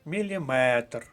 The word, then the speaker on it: міліметр: наголос на останньому складі сантиметр дециметр міліметр сміливо записуємо до третьої колонки третій склад міліметр бородавка другий склад друга